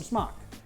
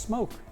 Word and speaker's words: Smok: the market yes some schmuck unless you've been told it's it's actually pronounced smoke yeah I know I'm